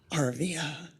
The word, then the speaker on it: Arvia: I will never forget her teaching me how to pronounce her name. I wasn't saying it right. She said it's Arvia.